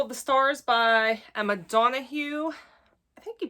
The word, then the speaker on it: Donoghue: Okay, then we have The Pull of the Stars by Emma Donoghue. I think you pronounce it Donoghue.